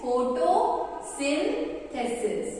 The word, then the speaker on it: photosynthesis: So firstly photo तो सब pronounce कर लेते हैं। तो first is photo, then your sin and last is thesis, ठीक है। Photosynthesis, right? So it's photosynthesis.